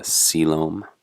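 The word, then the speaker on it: coelom: this the term for body cavity is a selom that's how that word is pronounced here the fate of the blastopore so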